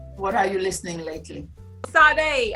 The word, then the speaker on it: Sade: Sade. I don't know if I'm pronouncing her name right. Sade. Yeah, there you go.